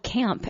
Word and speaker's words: CAAMP: The band is called Camp, and it's spelled with 2 A's.